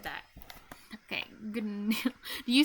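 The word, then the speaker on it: GNU: is actually pronounced new this is real pronunciation it's not G new it's actually new that's what I read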